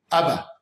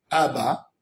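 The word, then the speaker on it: אבא: Alors il répond, il dit qu'en grammaire hébraïque, il y a des mots où la dernière lettre ne se prononce pas. Tu dis par exemple, Abba. Abba. La prononciation elle est sur quoi? Sur la première lettre. A. Ensuite dans le bet, tu as Ba. Mais le dernier Aleph, tu dis pas Abba.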